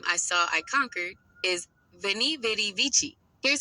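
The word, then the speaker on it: Veni, vidi, vici: The Latin phrase for I came, I saw, I conquered is Veni Vidi Vici. Here's how it's typically pronounced. Veni, V-E-H-Ni, like ve in vehicle.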